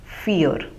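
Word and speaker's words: vier: dry and four is fear as we have already discussed the German V takes the pronunciation of English F fear so the word fear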